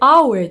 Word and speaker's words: hour: Потому что первый звук, вот он, звук, он не произносится в этом слове. Поэтому мы употребили «n», потому что начинается со второго звука.